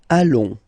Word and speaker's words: allons: Nous allons. Final S not pronounced, and then when you get this ON combination, you get this nasal on, really in your nose, okay?